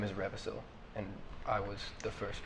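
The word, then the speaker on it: Revasyl: own voice you hear um my name is revil and I was the first dragon I am I have not you spell that r e v a s y l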